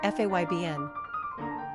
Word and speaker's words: Fabian: gender boy origin Latin number of syllables three ranking popularity 312. pronunciation faybn simple meaning being characteristics of